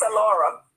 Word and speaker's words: Alora: It's Alora. Alora. I think I was saying Aurora. Yeah. Okay. With an L. It's like Laura with an A in front of it.